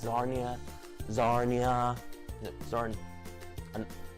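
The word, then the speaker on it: Czarnia: Narnia oh boy but it's darn you don't pronounce the see it's sarnia zarni huh it started and yeah the man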